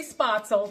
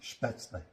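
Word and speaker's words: Spätzle: And I'm going to be making, I say spaetzle. That's kind of like the American way of saying it, but the correct pronunciation right there. What is the correct pronunciation? Spaetzle. Spaetzle.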